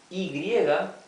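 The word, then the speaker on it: hay: so this is read I remember that the H is always mute okay this is I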